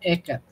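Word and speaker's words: Ehēcatl: nor realmente se dice ec Ajá así e ecat quetzalcoat quetzalcoat bueno ecar es viento no y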